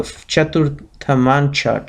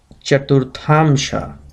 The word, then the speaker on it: Chaturthamsha: Similarly, the Chaturthamancha chart, Chaturthamsha rather, as a good pronunciation, I'm sorry, is a